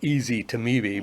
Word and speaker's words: ezetimibe: name Zetia, which is ezetimibe, I like to call it ezetimibe because Yes. that's how it's spelled.